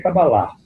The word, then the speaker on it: Kabbalah: Bom, de trás para frente aqui, o Pedro pergunta, qual é a pronúncia correta, Kabbalah ou simplesmente Kabbalah? A pronúncia correta é Kabbalah.